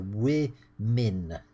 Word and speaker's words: women: It's 'man', plural 'men' and it's 'woman', I'll write 'woman' there, plural 'women' and I'm going to write the way we pronounce the plural there 'wimmin'. It's 'women'-'wimmin', quite different, the two sounds.